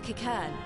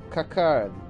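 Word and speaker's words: Qiqirn: Among you are village elders, refugee leaders, envoys from the Ananta and the Kikern. Kikern? That's how they're how it's pronounced? Oh. Kikern.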